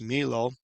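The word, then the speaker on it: Millo: that says in David built this from around Milo or Milo it's pronounced Milo and in your English translations it would just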